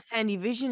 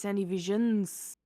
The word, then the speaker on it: Sandy Visions: did my name wrong it's not Sandy Vision it's Sandy Visions there's an S there's an S you are absolutely